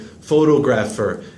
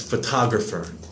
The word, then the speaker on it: photographer: Also, you said photographer. It's photographer, pronunciation-wise. Photography, photographer, photograph. Both O's change sounds. Photograph, they are both O sound, and then photographer. So both O's change there.